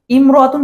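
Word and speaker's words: امرأة: রয়েছে ইমরতুন শব্দের আগে অন্য শব্দ হলে আলিফটি শুধু লেখায় আসে উচ্চারণে আসে না যেমন হিয়ামরাতুন হিয়ামরাতুন আমরা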